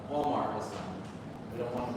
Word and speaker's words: Walmart: In Walmart, it has an R, but you don't pronounce the R. You have to say. Yeah, Walmart.